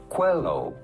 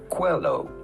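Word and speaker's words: Coelho: to pronounce that how do you go about pronouncing his name Paulo Quello Paulo Quello pretty straightforward once you know Paulo hello cuello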